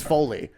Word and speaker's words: Foley: Folly songs so by the way it is foley yeah and I I've been saying it wrong